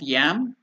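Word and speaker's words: यं: confusion so it's not yam it is yam or Y it has to be the pron pronunciation the uh the nasal thing has to stand there in the nose so it is y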